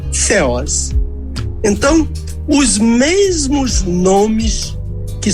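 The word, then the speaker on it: θεός: m Eloim e ceos t h e o s com acento no o feos ok devolvo a palavra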